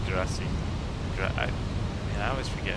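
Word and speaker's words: grazie: Why did I say Karachi? I think I should have said grassy.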